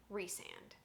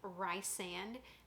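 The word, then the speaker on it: Rhysand: to find out that rye sand is pronounced resand or reese and i originally thought that she had named him rice sand because it was shortened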